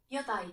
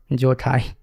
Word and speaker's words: Jotai: I just got shocked because it's not English. Notice it's Finnish. Yai, not Jotai.